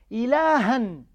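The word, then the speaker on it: إلهًا: Ilahan. You pronounce the fatha and you pronounce noon.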